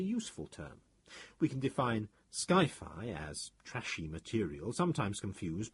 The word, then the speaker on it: sci-fi: He couldn't resist coining Skyfi as an analog in appearance and pronunciation to hi-fi, the well-known abbreviation for highfidelity.